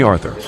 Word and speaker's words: Arthur: Call me Arthur. Stress on the first syllable.